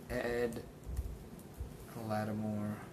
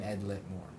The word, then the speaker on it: Ed Lattimore: Ed Lattimore. I used to pronounce his name Ed Litmore.